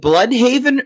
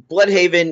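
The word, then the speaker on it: Blüdhaven: Now, are we calling it Bloodhaven or Bloodhaven? Because it's spelled with an umlaut, so I like Bloodhaven, but I think probably everyone says Bloodhaven.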